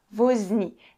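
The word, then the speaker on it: ոզնի: Alors, elle va se prononcer veau quand elle est au début d'un mot, comme par exemple ce mot-là. Est-ce que vous arrivez à lire? Ouais, j'ai écrit vozni. Ça veut dire un hérisson.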